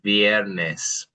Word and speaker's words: viernes: Viernes. Viernes. Yeah, good. Viernes. Viernes. Good. So again, emphasizing that sound of the I, E, and then the E is an E. So viernes, right?